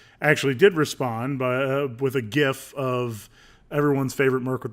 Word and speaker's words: GIF: So as far as Kieroneus TV is concerned, it's GIF with a hard G.